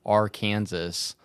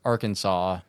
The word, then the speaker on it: Arkansas: I don't understand like Kansas and Arkansas are almost spelled the same but there's like R Kansas it's R Kansas but it's Arkansas yeah it's just weird